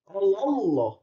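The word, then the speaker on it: الله: Ini namanya adalah tafhim. Kenapa bisa disebut dengan tafhim? Karena lafaz Allah di bawah sama fathah. Allah. Arti tafhim itu adalah tebal. Ya, jadi bacanya itu tembal kandel.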